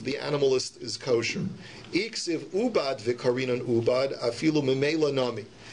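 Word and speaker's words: עבד: But hashlu dichsiv avad v'karinan ubad dumya de avad ma avad denichale af ubad denichale. So the Gemara now says we learn from the pasuk that it's pronounced ubad, but it's spelled avad.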